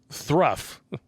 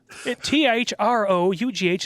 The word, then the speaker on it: through: his day's work was thruff thruff t-h-r-o-u-g-h is pronounced through through all right fine then